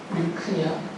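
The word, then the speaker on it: λυχνία: 헬라어로 읽을 때는 리크니아라고 읽어요. 리크니아.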